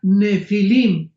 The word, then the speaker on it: Nefilim: pH intermedia Ne pilim se pronuncia nefilim en el original hebreo esta palabra en su